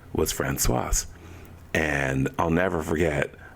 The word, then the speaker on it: Françoise: But I knew how to say her name, Françoise.